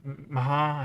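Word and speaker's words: Meagher: Is it Mahar? Mahar, I think they call it. Spelt meager, but pronounced Mahar.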